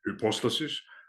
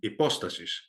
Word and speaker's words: hypostasis: spelling of it um now depending on how you uh pronounce it the classical way of the apostasis and the modern one would be apostasis because the all of the initial Ages which would have been recorded by the diacritics here are gone so